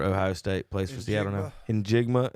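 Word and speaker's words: Njigba: In Jigma is how you say it.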